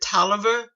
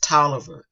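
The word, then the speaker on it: Taliaferro: is August the 19th 1872 he is in toer county and if You' seen any of my other videos you know that even though we pronounce it toer it is spelled t a l i a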